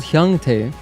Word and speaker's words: Hyungtae: Oh, his name is spelled Hyungtae. What? I forgot. I thought it was Hyuntae for a moment.